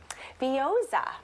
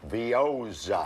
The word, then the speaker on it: Veozah: Veozah. Veozah. Veozah.